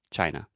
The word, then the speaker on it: China: China is just chai just like with a CH sound in the beginning and then the schwa China and technically this is